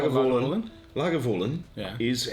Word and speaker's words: Lagavulin: ones that there are a couple of common pronunciations yeah I mean let's let's face it like an oilman Lagavulin yeah is how you should say it but